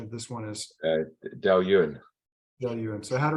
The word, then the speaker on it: Dailuaine: Richard, what would you say the correct pronunciation of this one is? Dailuaine.